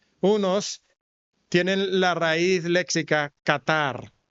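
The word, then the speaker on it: καθαρ: Unos tienen la raíz léxica Qatar, no como el país, pero se pronuncia como el el país.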